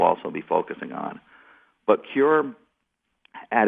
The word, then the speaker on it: CÜR: Yes, it's Cure Media. Thank you. So CUR, the U has an umlaut, hence the Cure.